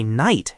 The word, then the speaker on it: night: In other dialects, the sound just disappeared entirely. But in doing so, it lengthened the vowel before it. That is why night has that long i sound.